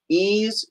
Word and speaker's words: Ys: and we got uh ease it's how they pronounce it number nine which is